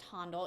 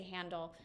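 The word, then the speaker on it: Handel: his name and they always said it was pronounced hondle you can say handle um either way it's fine I don't care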